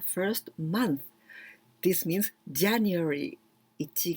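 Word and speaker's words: 一: And you can pronounce ichi or it or hito, and you need to put tsu in hiragana, hitotsu.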